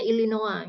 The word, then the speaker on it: Illinois: Ya, kita akan dengar audio dan kita akan menulis ya, mencatat nih nama-nama tempat masing-masing sesuai dengan yang diucapkan. ILLINOIS. Ya, ini pengejaan ya. Jadi ini bacanya Illinois ya.